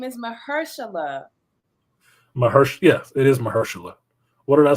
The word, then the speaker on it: Mahershala: mahershala yes it is mahershala what did I say mashallah I know what his name is I said it wrong he's from the Bay